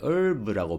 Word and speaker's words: herb: 자, 저 단어를 봤을 때 여러분 herb 또는 영어 발음은 herb의 H가 좀 약화되어지는데 herb라고 발음이 많이 되어지는데요.